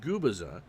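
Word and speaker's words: Gubicza: complete games he's 26 and is pronounced guiza fast ball at 89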